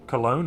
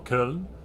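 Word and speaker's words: Köln: to Gamescom in August in Cologne or Kern depending on how you want to pronounce it um so if you're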